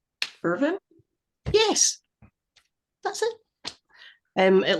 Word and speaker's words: Irvine: pronounced quite like that just chop the E off the end Irvin yes that's it um